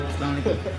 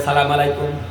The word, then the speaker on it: আসসালামু আলাইকুম: জামাতে নামাজ পড়তে যাইয়া সালামের উচ্চারণটা শিখে ঠিক তারপরও রাস্তাঘাটে আইসা সেই সালাম দেয় সালামু আলাইকুম এই মুসলমানের কি অবস্থা দেখেন মুসলমান শুদ্ধ করে সালাম দিতে জানে না অথচ দোকানপাটে মাসলা মাসায়ের